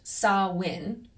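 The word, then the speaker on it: Samhain: Now it is written s a m h a i n but pronounced saw win marking the end of the harvest and the start of winter.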